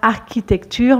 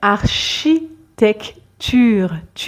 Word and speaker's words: architecture: Je pense notamment au mot, ici on ne dit pas architecture, mais architecture, avec le U, architecture.